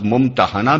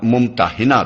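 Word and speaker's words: ممتحنة: الممتحنہ رکھا گیا ہے۔ اس کا تلفظ ممتحنہ بھی کیا جاتا ہے اور ممتحنہ بھی۔ پہلے تلفظ کے لحاظ سے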